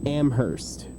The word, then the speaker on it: Amherst: So, the way you pronounce it is UMass UMass Amherst. So, you kind of Amherst.